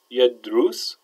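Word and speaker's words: يدرس: So we say yashrab with a fatha, yadrus with a dhamma, and ya'arif with a kasra.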